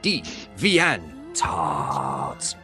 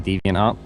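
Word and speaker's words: DeviantArt: This is D Van Tart.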